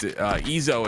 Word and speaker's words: Ezo: And just in case the chat is confused, Ezo is how he wants his name to be pronounced, and try to respect the man and how he envisioned his own name. So it is it's Ezo.